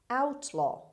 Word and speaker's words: outlaw: word number one outlaw outlaw outlaw the stress is at the beginning means an exile or